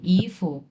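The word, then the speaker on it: 衣服: আর ওটা হচ্ছে 1 number tone, ইফু।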